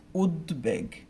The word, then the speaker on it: উদ্বেগ: একটা এক্সাম্পল দেখি, আমি যদি বলি হচ্ছে উদ্বেগ, উদ্বেগ।